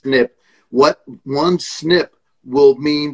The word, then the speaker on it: SNP: to know okay what genetic it's called a snip right one little change snp it's pronounced snip what one snip will mean that i need